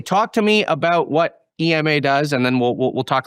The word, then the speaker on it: Ema: Is it Ema? Just correct. It's actually an acronym. Enterprise Machine Assistant, EMA. What was it? Enterprise Machine Assistant, EMA. And okay. Pronounced as Ema, not Ema.